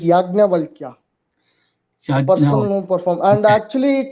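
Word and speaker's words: Yajnavalkya: operation actually the name actual name how we pronounce is yagna valkyria personal perform and actually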